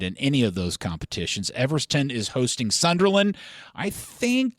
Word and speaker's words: Everton: Everton is hosting Sunderland. I think, Did you call him Everston? I mispronounced it. I don't mind you mispronouncing. Look, team. there's a scenario where Everton could even squeeze their